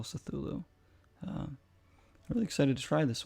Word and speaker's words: Cthulhu: it's call of cthulhu call of cythulu is the way to pronounce it i believe c-t-h-u-l-h-u call cythulo really excited to try